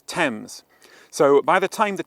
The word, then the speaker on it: Thames: Don't say ths, it's tempames.